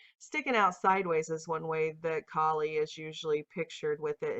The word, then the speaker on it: Kali: slaying of the masculine which is actually usually pronounced kali but i'm saying cali because we call california cali but she's almost always